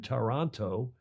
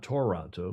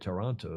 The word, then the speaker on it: Taranto: The Rockwool Italy Sail GP in Taranto, not Toronto, but Taranto. How do you say it? Taranto in Italian.